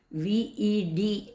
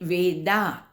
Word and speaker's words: Ved: begin to understand that Ved needs to be pronounced as V-E-D, Ved alone. Sometimes when we speak in English or we refer to it, we tend to say Veda. Additional A is numerically going to damage its activities or its representation.